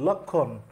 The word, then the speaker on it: লক্ষ্মণ: যেরকম আমরা যদি লক্ষণ, লক্ষ্মণ থেকে যেটা লক্ষণ আছে সেই উচ্চারণে যদি আমরা যাই, এখানে ক্ষীয়র সাথে মফালা আছে, এই ময়ের উচ্চারণ হবে না। যুক্ত ব্যঞ্জন ক্ষীয়, যুক্ত ব্যঞ্জনের সাথে মফালা যুক্ত হইলে ময়ের উচ্চারণ হয় না।